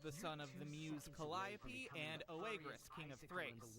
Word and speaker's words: Calliope: the word Calliope, them niggas say Calliope. And like, I don't know if that's just like a New Orleans thing, but like, I don't want to tell a whole city of people that they pronouncing a word wrong, bruh. But in Greek mythology, all I've known is that that word has been pronounced Calliope.